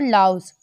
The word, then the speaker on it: Laos: तो वो 3 कंट्रीज़ हैं वियतनाम, कंबोडिया और लाओस। इसमें लाओ बोला मैंने, जो एस था वो इसमें साइलेंट रहता है, इसलिए इसको लाओ पढ़ते हैं।